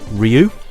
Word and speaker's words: Ryu: Okay, so I'm going to choose Ryu. Yes, that is the correct pronunciation, apparently.